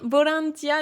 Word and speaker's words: ボランティア: le transforme en V mais les Japonais continueront à le prononcer B parce qu'ils arrivent pas prononcer le V ça sort pas dans leur bouche donc là ici bolantia effectivement c'est volontariat en